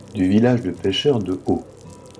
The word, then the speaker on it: Å: village de pêcheurs de Haut, qui s'écrit A avec un petit rond au-dessus du A, mais qui en réalité se prononce O.